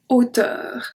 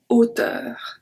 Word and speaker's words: hauteur: But because it is acting as a consonant, we say la hauteur. It's very separate. La hauteur.